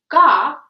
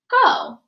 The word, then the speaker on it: go: And because there are no consonants after the O in go, I know that O isn't, go has an open syllable, right? Go. And that means the letter is going to say its name instead of saying its sound. So instead of saying ga, we say go, right?